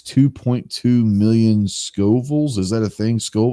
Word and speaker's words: Scoville: be eating the chip and it's 2.2 million scovilles is that a thing school was that how